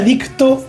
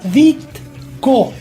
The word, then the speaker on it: Ditko: La vida y la obra de Steve Ditko. Lo dije bien. Bien, no dijiste dicto. Yo digo, de toda la vida digo dicto. Y me enteré Lafteria. que no era dicto hace pocos años.